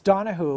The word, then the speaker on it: Donohoe: It's Donohoe, which is the Irish Gaelic pronunciation, and my father's Australian, going back, ironically, to the Second Fleet.